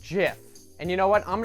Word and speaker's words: GIF: Theo Jo is going to lay down some righteous knowledge on you it's Jeff it's pronounced jiff and you know what